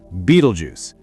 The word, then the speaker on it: Betelgeuse: Yes, Beetlejuice is pronounced Beetlejuice.